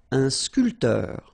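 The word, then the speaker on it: sculpteur: So, barman sculter. Same thing here. This P here is not pronounced.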